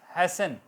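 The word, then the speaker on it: hasten: हेस्ट हैसन, T silent, EN बोला जा रहा है।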